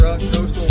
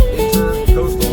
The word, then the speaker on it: Intracoastal: It is the Intracoastal Waterway, not Intercoastal Waterway.